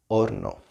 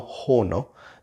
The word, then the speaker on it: horno: I was gonna say at the start of the word, but normally it's always a silence, unless the age is followed by a C.